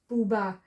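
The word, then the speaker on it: בובה: This is the bet, it sounds as bat. The T is the A vowel, and the silent H at the end to close. Booba. And booba is doll.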